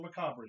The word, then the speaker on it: macabre: Is that how it's said? Yeah. Macabre? Yes, it's not What? macabre or macabre. It's macabre, right, Big Bad John?